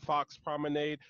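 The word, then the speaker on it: Foxx Promenade: over to her Instagram, Fox Promenade. Actually, go ahead and spell that out for us. Oh, yeah, yeah. It's F-O-X-X, so two X's, P-R-O-M-E-N-A-D-E. It's like lemonade, but with prom.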